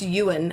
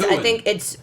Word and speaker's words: Ewen: How do you pronounce Ewen? I think it's Ewan actually, but it's I just never- a weird way to say you. It's an E-W who? E-W-E-N is. Ewan.